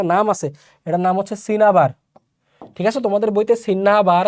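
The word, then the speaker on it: cinnabar: একটা মিস্টেক হয়ে গেছে সিন্না ডাবল এন দেখে মনে করছে মনেয় সিন্নাবার হবে এটার স্পেলিং প্রনান্সিয়েশন হচ্ছে আসলে সিনাবার এই সিনাবার যেটা মারকিউরিক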